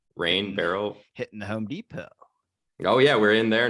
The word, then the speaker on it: Depot: It says Home Depot on the sign, but everyone says the Depot. I was like, which T in my company name? No, T is silent in Depot, and you're like, what the fuck?